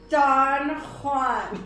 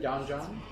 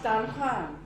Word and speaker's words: Don Juan: That is how you say that, mister. Don Juan. Wouldn't that be Don John? No, it's Don Juan. Well, depends on what language you're speaking, I guess.